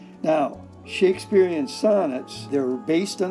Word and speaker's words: Shakespeare: we have two syllables which one is stressed if it's an I am it would be the second one Shakespeare but now we don't say it that way we say Shakespeare so that's actually what you call a trochee it's a different foot but the stress is right here on the first syllable so Shakespeare doesn't work